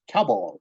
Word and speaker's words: cowball: Like, oh, if you want to say this, you just say, cow and then ball, and it together it's cowball. That's how you say Okay.